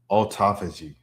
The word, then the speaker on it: autophagy: Autophagy. Oh, autophagy like autography.